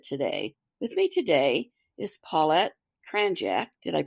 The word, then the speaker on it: Paulette Kranjac: a little bit today with me today is paet cranck did I pronounce that correctly yes okay well welcome and